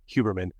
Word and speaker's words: Huberman: a special guest that is Dr Andrew huberman huberman let me I learned how to pronounce that correctly huberman after watching this podcast because he has a